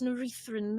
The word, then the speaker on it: Norethran: of the market there, yes, Norethran, that's the word. Urethran? Norethran. Oh, alright. I was really scared for a second there. I believe it's pronounced urethra. No, that's simply not the word.